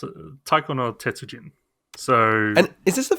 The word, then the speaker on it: Taiko no Tetsujin: I know, at least know how to pronounce it. Taiko no Tetsujin.